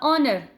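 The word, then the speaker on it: honour: द ऑनर, ऑनर, ऑनर में भी आपके पास ये एच की साउंड नहीं दे रहा, ये अ की साउंड दे रहा है, ऑनर।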